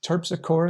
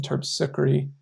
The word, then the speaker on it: Terpsichore: muse of dance and i've heard it pronounced terpsichore and terpsichory um and i've looked up how to say it and i've seen it listed both ways so whatever your preference